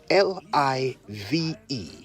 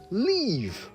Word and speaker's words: live: L-I-V-E, live. Simple, right? Yet we often hear people say leave when they mean live.